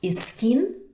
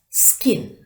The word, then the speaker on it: skin: Some mistakenly pronounce these words as iskin, iscare, ispot, ispeak, which is wrong. It's not iskin, but it's skin.